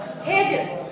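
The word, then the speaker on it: hedge: जी ई एज है ना इसको एज पढ़ेंगे हेज एच ई डी जी ई हेज वेज डब्लू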